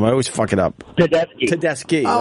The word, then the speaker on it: Tedeschi: Tedeschi.